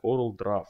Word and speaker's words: CorelDRAW: Потому что CorelDRAW читается по буковкам как CorelDRAW. Если мы, блядь, пишем слово, к примеру, зажигалка, мы же не говорим, что это зажигалка. Ну, давайте будем говорить правильно. Поэтому в данном случае я буду называть CorelDRAW. CorelDRAW, блядь, тут нету дров, это раз, и нету буковки О, это два.